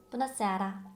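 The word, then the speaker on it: Bună seara: 오히려 부너세아라 이렇게 너무 늘리게 되면 이해하기가 더 어려울 수 있으니까 부너세아라, 부너세아라 이렇게 빨리 발음해 주시면 됩니다.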